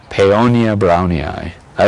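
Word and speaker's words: Paeonia brownii: United States brownie eye Paonia brownie I don't know brownie is true Latin pronunciation but it's what everybody in the garden world says Paonia brownie I and that one came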